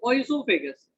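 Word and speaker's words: oesophagus: tubular structure called asophagus it is oisophagus o is silent here so it is called as isopagan okay so see suppose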